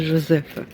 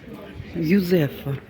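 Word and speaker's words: Józefa: Так, десь я зайшла в такі місця також дуже гарні на вулиці Жозефа. Юзефа. Юзефа не Жозефа. В Польщі то буква Ю. Так читається Йозефа.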